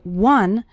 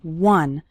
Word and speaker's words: one: one short activity the word one starts with the W sound okay some students pronounce it like on but that's not correct it's one one short activity and